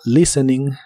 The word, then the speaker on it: listening: que significa escuchando música la t de la palabra listening no se pronuncia Así que es listening y este verbo usa la